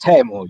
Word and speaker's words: Teemu: uh timo or table i think the right pronunciation is tamu yes how are you